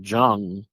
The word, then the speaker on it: Jung: theory created by Carl Jung if I'm pronouncing it jun n g jung yep that's correct He called it collective unconsciousness.